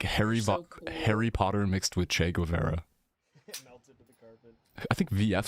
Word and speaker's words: Guevara: Why is everyone saying Govera? Am I saying it wrong? Vara? Guevara? I mean, like people, like news reporters. Che Guevara. Like Denims was watching. We're saying Govera. And I'm like, what?